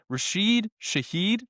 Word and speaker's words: Rashid Shaheed: I can never pronounce this guy's name. I'm gonna try again. Rashid Shaheed.